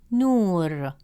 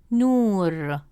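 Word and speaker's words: نور: Since the long vowel waw comes immediately after nu, it stretches the short oo sound into a long oo sound.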